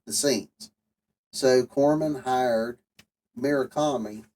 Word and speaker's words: Murakami: So Corman hired Murakami, I think is how you say his name.